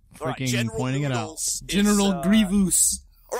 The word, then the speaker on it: Grievous: there and and Obi-Wan here we go Grievous gravious gous Grievous Grievous noodles I'm gonna call him